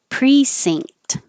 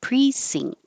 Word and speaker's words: precinct: sounds like er thirst precinct sing it's like sing but you're finishing with the t precinct ing question came up